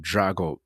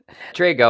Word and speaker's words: Drago: Drago. I'm the Italian version, but Rocky 4 is probably how most people know my last name. That's Drago. That's the Russian pronunciation, but I'm Drago.